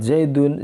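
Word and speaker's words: زَيْدٌ: Di sini secara pengucapan itu ada nun di akhir kalimat, cuma dalam tulisan itu tidak tampak nun mati.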